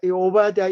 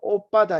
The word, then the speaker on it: 오바댜: 오발 디아 3를 살펴보겠습니다 오바다 이름이 좀 어려워서 발음 하여 좀 쉽지 않은데 경상도 빠름을 하면 좀 해 오기가 쉽습니다 오빠다 이렇게 하면은 좀 비슷하죠 오빠다 전 발휘한 대명 들을 케라 들어오신 좋겠습니다 근데 원래 오발 태아가 원래의 오바 자가 아니고 5 바드 야인 및 오바 더 야 를 줄여서 오바 태아를 이렇게 발음을 하는 것입니다 오바 더 야 이